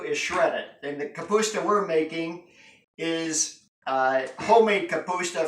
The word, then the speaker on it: kapusta: Kapusta. Kapusta. How do you say that in Slovak? Kapusta. And how do you say it? It's not sauerkraut.